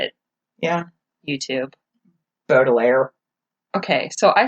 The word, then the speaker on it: Baudelaire: Baudelaire.